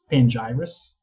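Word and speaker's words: Pangyrus: is it's called um panjiris ooh how do you spell that it's it's p-a-n-g-y r-u-s it's like uh um papyrus but with pangaea yeah that's basically yeah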